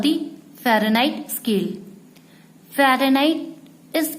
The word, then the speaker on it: Fahrenheit: It is called the Fahrenheit, pronounced as Fahrenheit, which was first used by the German scientist G.